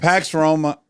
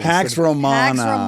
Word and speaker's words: Pax Romana: Pax Roma. Pax Roma. Yeah, this Pax Roma Pax as is the theme. It's one more syllable. Dax Roina Dax Romana. Yes, exactly. Pax Romana Pax Romana becomes the